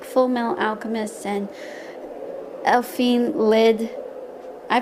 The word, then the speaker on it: Elfen Lied: like watching animes like full metal alchemist and elfine lid i pronounced as elfen lied but anyway but am I um-hmm I was